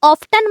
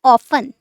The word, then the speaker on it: often: करते हैं हाउ ऑफन इसे ऑफन मत बोलना आप टी इसमें साइलेंट रहता है इसे आप कहेंगे ऑफन ऑफन हाउ ऑफन हाउ